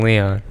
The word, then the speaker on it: Leon: all the different types what is the correct pronunciation so everyone knows not everyone not for everyone always says something different it's lost in leon leon yeah there you go